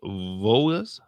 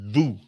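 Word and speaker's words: Vous: mean not the O the S is silent Vu Cafe Vu like Rond vu Cafe Vu yeah see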